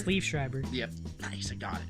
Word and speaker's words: Liev Schreiber: Also cast in the film was, I always pronounce his name right, is it Liev Schreiber? It's Liev Schreiber.